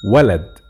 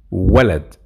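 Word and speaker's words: ولد: english so for example how to say boy it is wallet wallet you see all of them fast vowels so wallet as you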